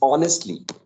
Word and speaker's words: honestly: Then it's honestly, that it's not Yeah, honestly, the H honestly. sound, right? Honest. H is, right, it's a silent sound there.